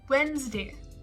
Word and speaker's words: Wednesday: Wednesday. Wednesday. Not Wednesday, Wednesday. So again, you combine all the letters together, so it ends up becoming Wednesday.